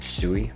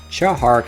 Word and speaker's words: Tsui Hark: his director chow hart a lot of other guys on youtube say his name sui but they're wrong xiao hark has always had a